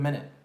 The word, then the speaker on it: minute: It's so, Minute also, by the way, for those of you who are saying the word minut, like minut, it's been a minut. This is how I would spell it for y'all. It's been a minute.